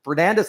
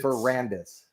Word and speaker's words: Ferrandis: Fernandez? I'm Fernandez. No. It's Ferrandis, not Fernandez. No.